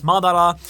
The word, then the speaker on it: Madara: And it's also, like, quite literally the entire Madara plan, right? Like Madara or whatever you want to call him. In Japanese, it's Madara.